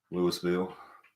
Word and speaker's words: Louisville: So, like I said, I know Louisville S is silent. Yeah. Louisville.